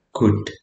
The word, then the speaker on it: could: Perhatikan pengucapannya adalah could. Ya, tanpa L di tengahnya.